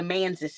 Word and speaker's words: Manses: The Manses is how they say it.